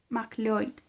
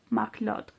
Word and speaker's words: MacLeod: MacLeod. Usé la pronunciación en gaélico que, a oídos de inglés, sonaba parecía MacLeod. MacLeod, me corrigió ella.